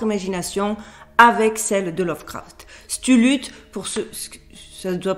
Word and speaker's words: Cthulhu: Cthulhu, pour ceux, ça ne doit pas se prononcer comme ça, Cthulhu, c'est une entité dans